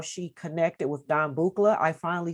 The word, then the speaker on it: Buchla: She just gave us a little back history about how she connected with Don Buchla.